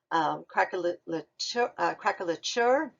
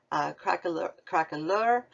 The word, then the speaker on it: craquelure: Craquelature, and it's pronounced different ways. Craquelure. Again, this is another one of those things they argue about.